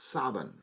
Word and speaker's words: Samhain: built the city of Samhain. Although in Manx Gaelic, Samhain is actually pronounced Savan, S-A-V-E-N pronunciation. But since the character of